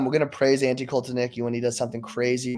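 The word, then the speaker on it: Kotelnicki: I am putting 100% blame on, and I always say his name wrong, Andy Stokonecki. Andy Koltanicki.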